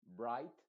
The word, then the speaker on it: bright: mudas las dos consonantes entonces diríamos Bright y tendríamos que olvidarnos completamente de la G y la H Yo pienso que esto